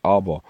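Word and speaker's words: אבא: Now, the Hebrew word for fathers is Abba, but they've got it again in Yiddish. Strong's H1. Of. See, they've got the Yiddish pronunciation. The actual Hebrew word is Abba.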